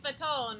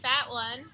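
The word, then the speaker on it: Fatone: all right let's go Joey Fon is Joey faton or Joey faton he's not not Joey fat one it's not Trish rain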